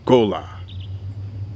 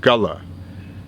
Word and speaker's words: Gullah: and a non-profit director what is Gullah Cola as the original Patois would have it pronounced right Gala as we now say it is what it represents